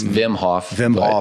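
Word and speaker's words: Wim Hof: want to dig further is whm Hoff which is spelled w Vim hoffm Hof but yeah whatever well and he basically I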